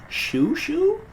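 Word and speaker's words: Xiu Xiu: to do things like that but apparently it's shu shu with pumpkin attack on mommy and daddy i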